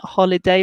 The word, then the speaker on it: holiday: Careful with an holiday. Remember, we pronounce the quite heavily in English, so a holiday.